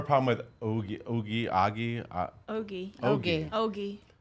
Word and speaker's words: Ogie: Ogie. Hoagie, like hoagie.